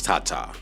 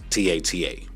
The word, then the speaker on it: TaTa: He signed his first AI-generated artist, and I believe the way you pronounce his name is Tata, right? It's Tata.